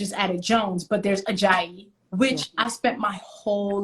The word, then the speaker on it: Ajayi: be like ah aj ayaji uh aja and i'm just like listen take the burden off my name take the difficulty that you've ascribed to it off it and it literally is as it is spelled ajayi and i still get